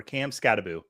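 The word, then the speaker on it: Skattebo: Is it Emeka Ibuka, Teteroa McMillan, Quinshawn Judkins, or Cam Scattaboo? And yes, I pronounced all 4 of those names correct.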